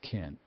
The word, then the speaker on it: can: Can is most often pronounced ken in USA English.